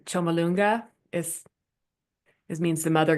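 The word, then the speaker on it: Chomolungma: Chumalonga is is means the mother goddess earth is is what the Tibetans name.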